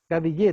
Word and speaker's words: Gadillé: Gadillé, tal cual como se escribe.